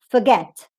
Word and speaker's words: forget: a long o okay so it's not forget or forget it's forget forget here you have